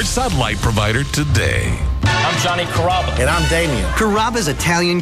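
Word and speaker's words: Carrabba: it's a r name growing up people always had a hard time pronouncing my name people Chom it up pretty good you know Kaba kababa it's a really easy name to pronounce it's Kaba come to kabas for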